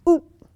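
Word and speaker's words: up': That, like hair, the word for hair is oop, but you spell it UP with a comma after it, oop.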